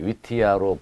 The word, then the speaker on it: WTIA: 해외에서는 그 발음이 복잡하기 때문에 위티아로 불리고 있습니다.